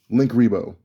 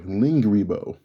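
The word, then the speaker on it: Linkuriboh: i'm not done yet link rebo i'm sorry lingaribo that's how you say his name nah lingribo l-i-n-g rebo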